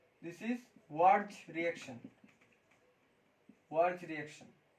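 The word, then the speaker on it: Wurtz: This is verge reaction. Verge reaction. Verge not woods. इसका pronunciation है verge reaction. जो teacher woods पढ़ाते हैं, वह गलत है।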